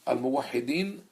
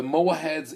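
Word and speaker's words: Almohads: There were two invasions, which came from Morocco, the Al-Muwahhidin and Al-Murabitin, or the Mowaheds and the Moravids, as they are pronounced in English.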